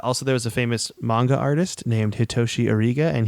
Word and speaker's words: manga: dang yeah uh also there was a famous manga artist named hitoshi arz and he designed 10 species for Pokémon X and Y it's a fun little fact for all our uh manga or Manga is it manga or Manga manga I think it's manga I